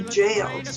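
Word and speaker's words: gaol: that evening and irish toast just pronounced shronka it's spelled weird s-l-a-i-n-t-e shlanka early the next morning we went to the jails felt g-a-e-l in court it's considered a rebel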